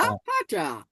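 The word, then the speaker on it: Vater: পাটা, দেখেন ফ পা, আর এই যে এ আর যদি লাস্টে থাকে এটা আর মতো উচ্চারণ হয়, আ, তাহলে দেয়া ফাটা, দেয়া ফাটা।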